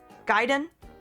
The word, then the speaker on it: Gaiden: Gaiden? It's Gaiden, not. It doesn't rhyme with Raiden.